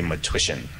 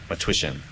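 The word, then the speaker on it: Matwyshyn: And again, the spelling is difficult for pronunciation, but just say matrician, matrician, like tissue.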